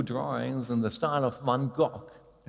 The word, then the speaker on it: Van Gogh: And yes, today we have AIs that can paint new drawings in the style of Van Gogh. Van Gogh, that's the correct way of pronouncing it.